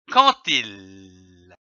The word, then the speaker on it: quand il: la liaison quandil attention le d ici se prononce t quantil veillez également à faire